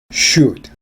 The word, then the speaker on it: should: should, 무엇 해야 한다. should, 무엇 해야 한다. should에서 l은 발음되지 않죠.